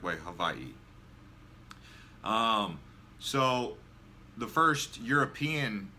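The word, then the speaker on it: Hawaiʻi: the name comes from Havi which in the middle is pronounced like a V so as some of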